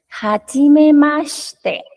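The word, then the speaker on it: はじめまして: pronunciarlo un poquito mejor Recuerden que la regla de la y antes de una consonante fuerte como lo es la t Ajá entonces pronunciamos hacinemaster ahí si está sonando como Ja porque no es marcador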